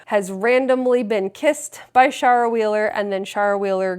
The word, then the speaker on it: Shara: Okay, I'm always I'm going to say it wrong cuz it looks like Sarah. It's I Kissed Shara Wheeler.